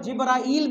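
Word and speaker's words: جبريل: आए तुम्हें तुम्हारा दिन जिब्रील भी है और जिब्राइल भी तालाब हो जाए ये दोनों तरह से इसको प्रोनाउंस किया जा सकता है ये तो मैं तुम्हारा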